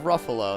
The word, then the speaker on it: Ruffalo: Mark Ruffalo. There you go. I was going to say it rhymes with Buffalo.